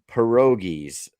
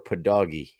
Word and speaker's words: pierogi: So my sister says, how do you pronounce pierogies? Would you say pierogi or padogi? How would you say? I said pierogi. Pierogi, right? Yeah. Yeah. That's how my family said it too. But as I've grown older and I'm around people that don't say it like that, they read it off the box.